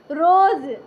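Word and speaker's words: rose: देखिए आर आर ओ एस ई, रोज।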